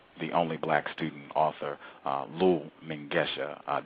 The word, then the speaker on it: Lull Mengesha: Again, the only black student author, Lull Mengesha. Did I say it correctly? You got it.